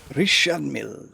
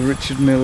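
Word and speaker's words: Richard Mille: Richard Mill. Richard Mill. Are you trying to speak French? Nope. I don't know what nationality Richard Mill is actually.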